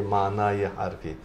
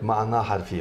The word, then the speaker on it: ma'na harfi: So that is why when we write it, we say mana-i harfi. Mana-i harfi, in the Persian language. But in Arabic, ma'na harfi, of course, and ma'na